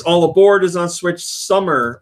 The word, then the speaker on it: Sumer: aboard is on switch summer or Sumer I guess it's pronounced because it's about Sumerian Nobles that's all switching super